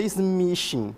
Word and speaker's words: smishing: Por exemplo, chegou uma mensagem SMS no meu celular, que é o chamado SMS phishing ou SMS phishing, que é smishing, a pronúncia disso aí junto, né?